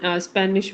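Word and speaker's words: Spanisch: स्पष्ट वाले में स्पिरिस्ट नहीं नहीं लास्ट वाला स्पेनिश वाले में पा इट इज स्पानिश स्पैनिश इसमें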